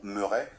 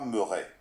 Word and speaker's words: Meuret: D'ailleurs, petite précision avant de commencer, parce que c'est crucial, son nom, Meuret, ça se prononce comme beurre ou comme leurre. Surtout pas Meuret.